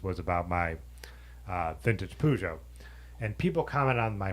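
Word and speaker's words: Peugeot: and all that stuff so it's pujo if you live in America and I'm not pronouncing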